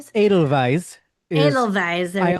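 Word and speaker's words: Edelweiss: Idle Vise, I think is pronounced like a V, right? Idle Vise. Adel Vise is Adidal Vise.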